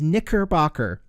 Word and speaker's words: Knickerbocker: As you can see, that's exactly what it's called, and it is really hard to pronounce it without it sounding bad, but it is Knickerbocker.